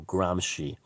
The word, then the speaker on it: Gramsci: he's an italian by the name of antonio gramsci i think that's how it's pronounced he was sardinian g-r-a-m-s-c-i and he was